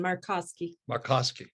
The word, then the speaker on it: Markoski: Markoski. Perfect. Look at that. It almost rhymes with Kiyosaki. It sounds like Kiyosaki to me.